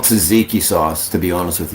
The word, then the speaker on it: tzatziki: I got that gotta get that because it's spelled TSA or something. Tzatziki, I gotta get that tzatziki sauce. So if you're Theo Vaughn, you call it Zagziki.